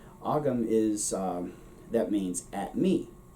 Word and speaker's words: agam: moment yesterday i was checking the pronunciations for agam agam rather ogam is that means at